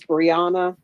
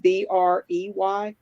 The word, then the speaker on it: Breyyanna: no further contact with, I believe her name is Brianna, but it's spelled Breyyanna Harris, that he attend family